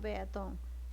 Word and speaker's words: peatón: ¿Qué pasa con peatón? Peatón, mira, fíjate, acá ha variado el cerrito. Lo que significa que la mayor fuerza de voz está en ton.